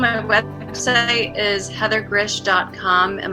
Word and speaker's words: Grzych: but Saturday is Heather grish calm and my last name is spelled gr z YC h I know it's weird Heather calm and